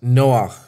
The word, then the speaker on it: Noach: noah in the hebrew the name noah is pronounced noah the word noah is related to the hebrew